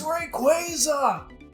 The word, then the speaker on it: Rayquaza: records about I know there's some Die Hard Rayquaza fans it's Rayquaza yeah I don't think I've watched any of